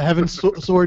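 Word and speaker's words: Heavensward: like Saturday I believe Saturday morning um so Heaven sword is the expansion coming out so hold on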